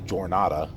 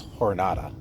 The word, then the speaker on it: jornada: hornada de merelto okay it's Spanish okay so you don't say jornada it's hornada all right that's not